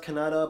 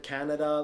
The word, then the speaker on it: Kannada: I was told it's pronounced Kannada, but some people have said Canada, like what is it?